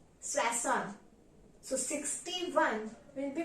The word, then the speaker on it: soixante: how 60 is pronounced 60 is pronounced as swason sason so 61 will be